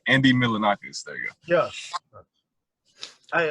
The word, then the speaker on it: Milonakis: But Just like Andy Milonakis. I said that name wrong. Andy Milonakis.